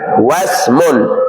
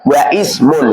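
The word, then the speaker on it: وَاسْمٌ: Ismun bacanya wasmun. Jangan wa ismun salah.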